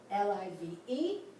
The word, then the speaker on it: live: L-I-V-E, L-I-V-E. Let's just imagine, because I'm going to just say that this one is live. Here the I is the long I.